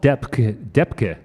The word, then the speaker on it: Depk: Okay, and the other piece from Far East Suite we're going to do is called Depke, which is spelled D-E-P-K.